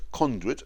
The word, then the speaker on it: conduit: Circuit, conduit rhyme with shirk it and beyond it.